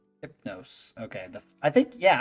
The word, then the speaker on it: Hypno5e: um the dreamer and his dream oh it's pronounced hypnos hypnos okay the I think yeah I'm pretty sure